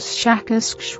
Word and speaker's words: Shakask: human letters, something like Shakask, with a very strong pronunciation of the SH and K sounds.